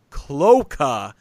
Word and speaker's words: cloaca: The word cloaca has three syllables. Cloaca. Cloaca. The pronunciation is cloaca.